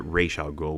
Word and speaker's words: Ra's al Ghul: the way um yeah they they pronounced it racial goal which is the proper way to pronounce it and everything like that